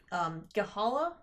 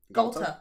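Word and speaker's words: Ghalta: I posted a foil altar of, I say her name wrong, the big green dinosaur from Ixalan. Gahala? Galta.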